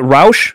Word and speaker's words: Rauch: of a formal uh introduction and is it roush is that how you say it uh rao actually rhymes with german yeah i just learned how to